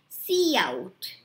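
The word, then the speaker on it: cout: is it said like say c and then out so see how it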